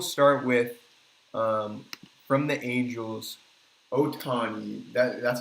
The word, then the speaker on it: Ohtani: First, we'll start with from the Angels, Otani. That's how you say his name, right? Shohei Ohtani.